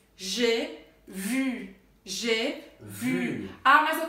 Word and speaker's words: j'ai vu: E aí, como é que a gente vai pronunciar o primeiro G? G. É como se fosse um J com E fechado em português. E com acento circunflexo.